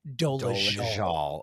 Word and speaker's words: Dolezal: I keep forgetting it's pronounced Dolezal.